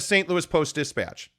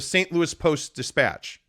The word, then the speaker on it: Post-Dispatch: It's not the St. Louis Post-Dispatch. There's a beat there. It's the St. Louis Post-Dispatch.